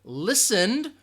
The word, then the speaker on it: listened: an extra syllable so listen has one syllable listened also just one syllable it is one syllable